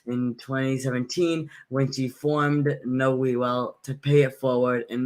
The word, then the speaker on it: KnoWEwell: KnoWEwell.